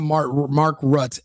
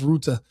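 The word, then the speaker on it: Rutte: And it's Mark Rut, not Mark Rut. Everyone in America has been calling him Rut today. They they they don't speak I think he's Austrian or German. They don't speak. They They can't pronounce Ruta.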